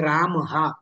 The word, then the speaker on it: रामः: तेही रूढीनुसार उच्चारण आहे आपल्याकडे राम हा असं सुद्धा म्हणण्याची पद्धत आहे आणि रामह असं सुद्धा म्हणण्याची पद्धत आहे तर ते बरोबर आहे तशी जर पहिल्यापासून सराव